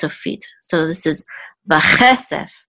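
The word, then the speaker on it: וָכֶסֶף: So this is vache sef. So the accent is on this syllable, vache sef, and this means and silver, vache sef.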